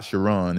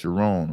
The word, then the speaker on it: Sherrone: And for Sherrone Moore, not Sherrone, it's Sherrone, right?